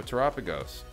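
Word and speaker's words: Terapagos: 180 all right so tagos pronounced like Galapagos get it right guys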